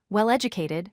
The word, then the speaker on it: well-educated: In this pattern, we stress the second word. Examples include well-known, meaning famous; well-educated, meaning having good education; bad-tempered, meaning getting angry easily; and self-confident, meaning believing in yourself. Here, the stress falls on the participle or adjective that comes second.